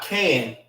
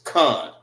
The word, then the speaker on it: kan: Con means yes. K-A-N. It's not can, it's con.